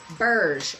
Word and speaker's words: Berge: It is marked Berge, B-E-R-G-E. I almost want to say that G is in a soft G. Say B-E-R-G-E, like G-E appliances.